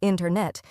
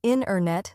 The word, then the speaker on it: internet: Yes, a great example is internet. We don't usually say internet. Instead, we say internet. The T sound gets softer or disappears.